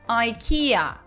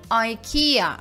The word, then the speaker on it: IKEA: бы вы его произнесли англичане произносит этот бренд как ikea ikea up внимание что ударение стоит на втором слоге а и kia